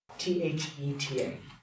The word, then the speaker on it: theta: That's the Greek letter theta, T-H-E-T-A. That's how you say it, theta.